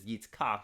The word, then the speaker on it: Yitzchak: translators wrote his name, we say Isaac, but his Hebrew name is Yitzchak.